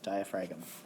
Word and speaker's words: diaphragm: have the diaphragm and it's got a silent g okay so diaphragm has a silent g diaphragm okay and it has